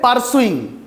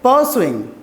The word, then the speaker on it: pursuing: then repeat power swing when it comes to the R sound we try to spill the are very know we try to make it invisible we don't say pursuing we say pursuing okay so listen to